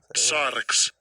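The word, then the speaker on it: σάρξ: Sarx.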